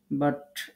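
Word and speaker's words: ب: দুই ঠোঁট থেকে আমরা 3টি হরফ উচ্চারণ করব। 15 নম্বর মাখরাজ, বা, ওয়াও, মিম। বা, ওয়াও, মিম। মনে রাখবেন, যখন আমরা বা উচ্চারণ করব, ঠোঁটটা স্বাভাবিক পজিশনে রাখবেন। দেখবেন ঠোঁটের যে ভিজা অংশ আছে এখান থেকে বা উচ্চারিত হবে।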